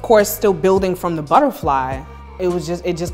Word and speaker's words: Butterfleye: it it's um b-u-t-t-e-r-f-l-e-y-e and I say e-y-e because you know you think of I like self but yeah that's how the visual butterfly came about I was